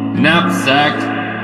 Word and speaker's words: knapsack: Kin, kind, kindle, Excelsior, king, kingdom, kink, chaos, kiss, kit, kitchen, neck, silent K for that one, knapsack, silent K for that one as well, need, another silent K,